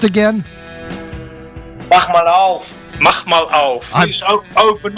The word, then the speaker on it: Mach mal auf: But how was that pronounced again? Mach mal auf.